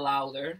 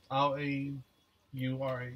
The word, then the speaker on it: Laura: L-A-U-R-A. Oh, Laura. Laura. Oh, this is a, I was like, oh, what's her name? She got Loud in her name. Oh, this Spanish. Laura. It's Laura. Laura.